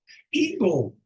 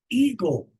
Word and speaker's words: eagle: Eagle. The A is silent, and the last E is silent. Eagle.